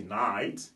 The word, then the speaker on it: night: Mais là, le GHT pousse le I à être prononcé comme I. Alors, we say night, qui veut dire la nuit.